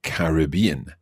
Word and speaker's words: Caribbean: now that's interesting because you said Caribbean and in North America that tends to be pronounced differently that's right in North American English we say the Caribbean excellent okay to find